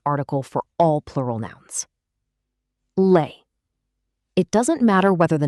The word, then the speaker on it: les: The vowel changes completely.